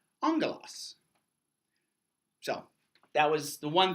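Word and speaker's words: ἄγγελος: And this makes the NG sound. Our word for angel comes from the Greek word for angel. However, the Greek word is spelt. You like that? You like that? You like that? Except the Greek is spelt and that's not pronounced angelos, it's pronounced angelos.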